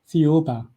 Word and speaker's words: Thiaoouba: about and I cannot figure out how to pronounce it. So I I'm sorry. Theoba. Theoba.